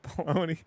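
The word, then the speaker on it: Belloni: telling you it does baloney bologna rhymes with felony I mean it does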